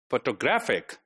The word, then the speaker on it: photographic: Similarly, the last word, photographic. Photographic, the second last one is stressed.